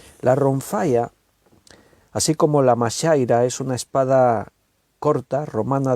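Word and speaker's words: majaira: Mashaira se escribe M-A-J-A-I-R-A, M-A-J-A-I-R-A, mashaira.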